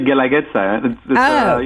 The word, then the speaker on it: Guelaguetza: It's actually Guelaguetza. The U is silent, so that makes it easier.